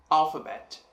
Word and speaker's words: alphabet: Se a gente for olhar, teremos alphabet. Alphabet. Al sendo a sílaba mais forte.